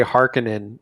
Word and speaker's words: Harkonnen: like for instance the they say harkinin in the villanu version i've always pronounced it harkonnen but that's really small detail